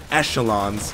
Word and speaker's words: echelon: o Elon yeah Echelon oh I always call them echelons no no it's it's Echelon it's it's a sound I know it sounds weird but that's a sound that's the proper way to say it damn the Americans in